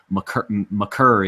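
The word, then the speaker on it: Makar: out and said, he said it's McCurr. He just didn't want to correct anybody. I'll stick with Maker just for the simple fact it's easier, and I don't have to remember to change the pronunciation. If his mama calls him McCurr, I'm going to call him McCurr.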